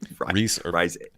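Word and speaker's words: Rhys: How do you say his name? Reese. I believe it's Reese Irfan.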